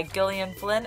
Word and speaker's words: Gillian Flynn: that'd be great number five dark places by gillian flynn and yes that's how you pronounce it because i googled it i had